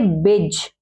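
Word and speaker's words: badge: जी से पहले अगर डी आए तो वो क्या होता है, साइलेंट होता है, मीन्स उसकी हम आवाज बोलने में नहीं देंगे। जैसे बेज, बेज, बेज क्या होता है, बिल्ला।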